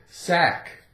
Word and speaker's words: sack: sack a k again sack we have a silent c a a a sack